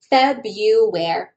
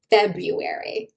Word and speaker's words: February: We say February. Now you don't need to pronounce the first R. However, you may hear some say February, which you can also say.